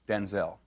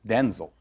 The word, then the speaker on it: Denzel: Because, wait a minute, because my name's not pronounced Denzel. My name's pronounced Denzel.